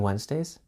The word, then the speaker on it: Wednesday: I sleep longer on Wednesdays. I sleep longer Wednesdays. You probably noticed that we don't pronounce Wednesday how it's spelled.